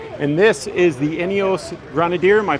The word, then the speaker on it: Grenadier: here with greg and this is the ineos grenadier am i pronouncing that correctly a grenadier okay we've all seen these things and i